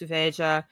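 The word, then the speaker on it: Veja: Parisian brand actually oh interesting okay if you pronounce it in puges though it's vea I say vea because I'm I speak Spanish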